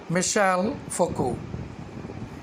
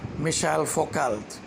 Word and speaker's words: Michel Foucault: scholar of 20th century Michel Foucault Michel Foucault was a French historian you know sometimes people do pronounce as michel foucault but your T is silent it should be made